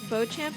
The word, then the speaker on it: Beauchamp: Beauchamp is pronounced via chum here, and that's just the life we have to live.